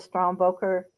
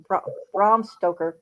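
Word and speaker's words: Bram Stoker: I basically verify all the strong boker uh sto Brahm stoker pronounced it right award ceremony.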